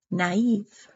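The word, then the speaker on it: naïve: over an i and it just means to say the I separately from the previous vowel such as the word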